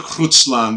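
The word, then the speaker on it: Grootslang: That I've heard of the Grutslang because it's spelled like Grutsland, right? Like a very Dutch two O's with those vowels over the O's and things like that.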